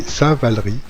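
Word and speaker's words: Saint-Valery: de repartir alors oui il faut prononcer saint-val riz en souvenir du moine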